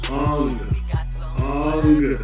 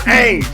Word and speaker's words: Aang: His Aang is on. Then Zuko, then like Appa's Upa. Listen. His name is Ong, not Aang.